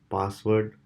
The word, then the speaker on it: passwd: today we'll learn about the password file which is spelled as pass WD and it is mostly